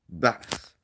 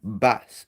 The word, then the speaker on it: vas: So it goes like this: Your boy, tu vas. So V is pronounced like B, and I forgot to do that earlier.